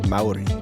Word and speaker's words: Mauri Villmann: I'm going to say his name wrong. Mauri Villmann. Close. Close. Mauri.